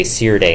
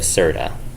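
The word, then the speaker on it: Serde: JSON library, which is So the Rust programmers are bullying me. They're saying you're supposed to say Sirde instead of Serda. And I'm pretty sure I pronounced that. So it's because it's serialized, deserialized. But when I say serialized, deserialized, I definitely say it with like very soft E. So it's like serialized, deserialized, right?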